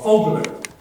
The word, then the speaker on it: Vogler: And it's funny because the name, like my name, Vogler, that's how it would be pronounced in Switzerland and Germany, Vogler, or Vogler. Well, when they came to the colonies, Vogler is an F.